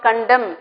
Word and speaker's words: condemn: Meaning of the word condemn is M only, N is silent.